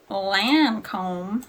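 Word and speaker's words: Lancôme: I could've swore yeah okay they're good Lancome Lancome you say it like a hick test on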